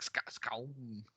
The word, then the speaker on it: Skxawng: I don't know how they say it in the film. It's like Skong.